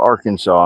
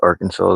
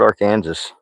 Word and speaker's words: Arkansas: Never could pronounce Arkansas, though. That's all right. A lot of people call it Arcan Kansas.